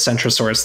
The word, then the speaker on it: Centrosaurus: So like we typically pronounce them differently because a C before a vowel or before an E, like in English, we often pronounce it as a soft C, right?